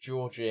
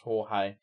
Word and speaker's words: Jorge: There was also another Argentinian dictator that I thought was called Georgie, and it was actually pronounced Jorge.